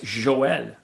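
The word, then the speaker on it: Joël: It's like Noel with a It's J, with a Noel. J. Yeah, it's Joel.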